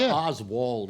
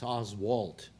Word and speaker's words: Oswalt: It's not Oswald, it's Oswalt.